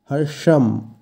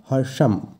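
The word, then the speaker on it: হর্ষং: এরপর আছে হর্ষাং এখানে কিন্তু মধ্যন্য আছে তাই উচ্চারণ হবে সা কিন্তু নয় হর্ষাম এবং আমরা জানি যেকোনো শব্দের শেষে অনক্ষর থাকলে সংস্কৃতে সেই অনসরের জায়গায় ম এর উচ্চারণ হয় তাই এক্ষেত্রে হবে হর্ষাম এই শব্দের অর্থ হর্ষ বা আনন্দ বা পুলক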